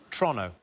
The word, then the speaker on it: Toronto: So it's Toronto, not Toronto. Oh, is it Toronto? Toronto. Toronto. Toronto. Like as quick as you possibly can. Like it's a crime to say it.